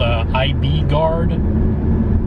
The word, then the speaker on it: IBGard: I'm trying something called IB Guard, not spelled how you'd think it's spelled. It's IBGARD, which essentially seems like it's time-release peppermint.